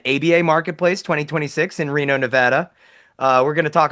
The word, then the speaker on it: Nevada: So the proper way to say it is Nevada, not Nevada. Ne I sound um like ignorant first of all, but also like in a bougie way, right?